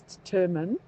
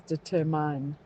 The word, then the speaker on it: determine: And then the other one I find gets mispronounced a lot is determine which people pronounce as deterine.